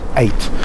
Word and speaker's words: eyot: but you pronounce it eight uh and I think that's called chisik 8 if I'm not mistaken e y o t is a normal spelling but you pronounce it eight Chic eight a little